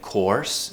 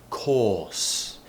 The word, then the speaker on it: course: We don't say course, we say course. Now the reason why, and I've told you this before, we only pronounce the letter R, when there is a vowel sound after it.